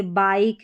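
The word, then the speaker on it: bike: जैसे बाइक है, इसको बिक नहीं पढ़ेंगे ना कि लिख पढ़ेंगे, लाइक, माइक और हाइक।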